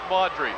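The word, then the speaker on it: Maugeri: g e r i it's pronounced modre I'll tell you what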